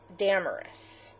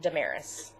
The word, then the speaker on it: Damaris: we pick deus's name if you pronounce it in the Greek it should be damarus but we thought it sounded like a bad word I just don't like it no I just think it sounds funny well that's because you've been called dearis all these years so we pronounce it dearis even if my name